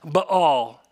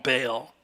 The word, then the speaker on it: Baal: of the worship of, it's actually pronounced Baal. But that's really hard to say when you're preaching, so we're going to say what every other preacher says, and we're just going to call him Baal.